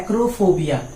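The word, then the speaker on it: acrophobia: तो पहला वर्ड्स है यहाँ पर फियर ऑफ हाइट्स, ऊंचाई से जिससे डर लगता है उसे हम लोग बोलते हैं एक्रोफोबिया। ठीक है, आप प्रोनाउंसिएशन सुनेंगे और वर्ड्स के स्पेलिंग को भी देखते जाएंगे।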